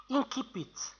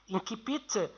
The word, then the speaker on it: incipit: En France, on dit surtout incipit. Alors, incipit, c'est le mot en latin, et l'incipit, c'est le mot en français. D'accord. Les deux prononciations sont justes.